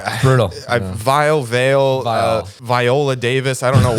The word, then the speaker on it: Viall: what it is dude it's vile it's vile vile I feel like that's not that hard to pronounce yeah but it is so you have because you have to like pause after the AI VR not the best